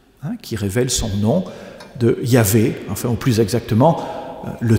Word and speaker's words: Yahvé: Et comme vous le savez, pour le prononcer, on a pris l'habitude de mettre un A ici et un E ici, ce qui donne le nom de Yahvé.